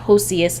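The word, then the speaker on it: Ossius: his Spanish religious advisor osseous or Josias as some pronounce it of Cordoba to Alexandria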